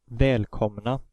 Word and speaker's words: välkomna: the consonant combination MN, which causes preceding vowels to take on the short vowel pronunciation. For example, in the word välkomna, The O has the short vowel pronunciation, even though it's only one M following it.